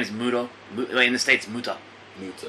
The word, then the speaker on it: Muto: name who is this guy his name is Muto in the states muta muta okay what happened his name is kg Muto but uh somebody couldn't say his name in